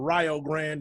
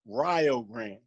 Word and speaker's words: Rio Grande: and that's why it's in Ohio they call it the Rio Grande right but but here's the thing they call it they call it Rio Grande so like to to rhyme with Ohio right called it Rio